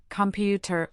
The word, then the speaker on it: computer: Computer has stress on the second syllable, computer.